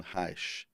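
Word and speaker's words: Reich: eu me deparei com Wilhelm Hi ou Wilhelm he né que pronúncia nos estos Unidos é diferente daqui da Europa o alemão Mas enfim a essa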